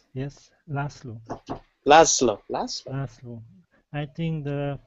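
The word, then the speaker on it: László: Lazola? Yes, Laszlo. Laszlo. Laszlo. I think the English pronunciation is Leslie.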